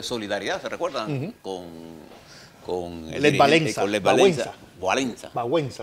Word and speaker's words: Wałęsa: Con Lech Wałęsa. Wałęsa, se dice en polaco.